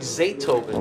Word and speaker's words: Zaytoven: That's Zaytoven, the producer. Okay. That's his platform for. Oh, like Beethoven, but like Zaytoven.